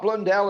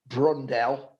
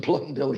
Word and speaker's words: Blundell: who doesn't know i mean in the japanese pronunciations they get their l's mixed up with their r's so it was always mark brundell and mark martin blundell and in the end